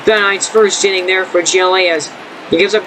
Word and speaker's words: Hjelle: It is pronounced Jelly. The H is silent, so a nice first inning there for Hjelle, as he gives up